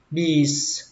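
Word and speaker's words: beets: Cây củ cải đường thì các bạn đọc là bees. Bees. Âm i là âm i dài các bạn nhé, các bạn kéo ra, bees.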